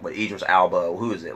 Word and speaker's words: Elba: Like, what, Idris Elba? Who is it? Like, who's like, okay, like, is that pronounced his last name right? Alba?